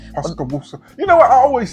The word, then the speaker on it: Pascagoula: I live in, is it Pascola? I don't know how to say Pascola, Mississippi. I apologize to those who know how to pronounce it. Pascagoula.